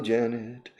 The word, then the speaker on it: Janeth: The H is silent, so it's Janet, like the name in English, Janet.